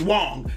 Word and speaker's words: Wang: I'm telling you that his last name is Wong that's how you pronounce it damn Americans out go